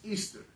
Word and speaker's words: Ishtar: of nimrod by Al she was called Ishtar pronounced Easter steroid in English it